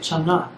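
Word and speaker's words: Chang'e: So that's how you pronounce it, Chang'a.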